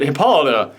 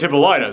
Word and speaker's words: Hippolyta: if you're like me, I always pronounced it Hippolyta. I didn't know it was Hippolyta, so wow. Yeah, Greek words are tend to be like pronounced very differently.